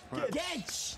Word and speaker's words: Guedes: Guedes. That's how they pronounce it in Portugal, but we'll call him Guedes.